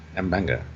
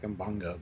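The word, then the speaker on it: M'Benga: I always call him Mbenga. Jill, you've tried to correct me multiple times, but I say it correctly each time, so I don't understand. Mbenga, yeah. Endeavour I say it fast. It might sound like Mbanga, but it's not what I'm saying.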